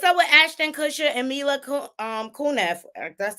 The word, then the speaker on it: Mila Kunis: What's up with Ashton Kutcher and Mila Kunis?